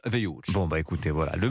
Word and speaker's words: Wild: Ça s'écrit Wild, mais ça se prononce Hughes.